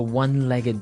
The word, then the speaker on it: one-legged: So he said, where do you find a one-legged dog? So what's a one-legged dog? Basically, it's a dog that has one leg. Ah, okay, and the pronunciation here is important, right? One-legged. Not one-legged. No. One-legged. So you can say a